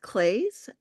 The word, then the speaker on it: Claes: my name is claze and uh my last name rhymes with glaze and I am an